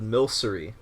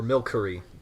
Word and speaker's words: Milcery: It's a Pokemon called Milcery, or Milcery, depending on how you want to pronounce it.